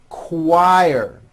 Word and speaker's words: choir: quebec quilt and also in the ch word choir very good okay here now is a paragraph